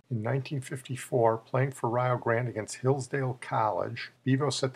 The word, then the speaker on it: Rio Grande: It's pronounced Rio Grande. It's named after the river in Texas. They pronounce it Rio, so it'll rhyme with Ohio. In 1954, playing for Rio Grande against Hillsdale College, Bevo